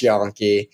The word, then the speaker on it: Yonke: y n ke it's pronounced yon and then my Instagram